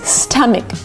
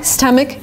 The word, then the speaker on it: stomach: correct to say this try to pronounce it with me stomic so it's kind of sta with an a STA and then mck with an e stck my stomach is full this is the right way to pronounce this word it's not correct to say stomach it's not a like father it's not an a it's a short sound uh like cup and up and cut uh St